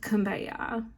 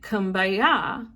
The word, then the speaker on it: Kumbaya: man named h wiley the chorus was actually come by here which in the gula's creole accent sounds like kumbaya so over time the pronunciation transformed into what we know today as kumbaya the hymn was a